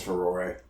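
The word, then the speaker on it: Farore: That's how you pronounce that, by the way. It's Ferore.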